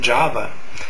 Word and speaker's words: Jahhhevah: Now, in the Aquarian Gospel, he speaks the word, and the word is spelled Jahhhevah. Now, he asked him to give the meaning and the pronunciation of that, and all it is Java, and all it means,